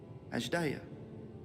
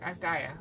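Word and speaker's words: Azdaja: Along with my sibling, Ajdaya. Would not pronounce that way, but Asdaya.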